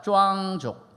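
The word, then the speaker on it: 壮族: 티벳 장족을 발음은 짱족이라고 하고요. 저희 있는 장족을 발음을 쭈앙족이라고 얘기를 합니다. 저희 장족은 쭈앙족입니다. 한번 따라합시다. 쭈앙족.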